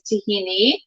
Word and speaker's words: tahini: exact term it's actually the greek pronunciation is tahini the arabic and israeli